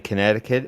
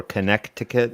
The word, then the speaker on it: Connecticut: The flavor ban in Connecticut, or Connecticut, if you like to pronounce words exactly as they're spelled.